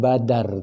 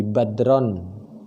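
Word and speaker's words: بدر: yida badroom mineral besar cara bacanya bukan Badar tapi Badrun kalau Badr itu buru-buru ngomongnya Enggak boleh buru-buru tapi harus berjalan sampai Gita nganterin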